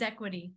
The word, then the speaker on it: Xequity: the company name is equity okay like what it sounds like a z but it's an X and why is it